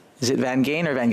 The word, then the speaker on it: Van Geyn: make sure I get it right is it van gain or van Shar your your your issue it's van like van perfect thank you um I just